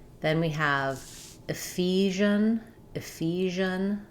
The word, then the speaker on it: Ephesians: Ephesians. So we stress on the f syllable. Letters ph say the f sound. The first e says an i sound. And then letters si say the sound like in measure.